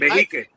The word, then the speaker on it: Behike: Behake. Beh. Oh, I said it right. I usually call it behike.